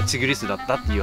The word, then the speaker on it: ティグリス: でそのこれの販売元に何て読むのかって問い合わせユーチューバーの方がいるんだけどたらその発音の音声まで送ってきてくれなってうんたらタイガーよりのチグリスだったっていう話